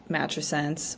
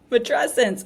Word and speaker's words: matrescence: that you know uh a word like matense which I still think I'm saying it wrong um is out there uh said it wrong for a long time matrescence oh my gosh adolesence mesent adolescence matrescence thank you I will still probably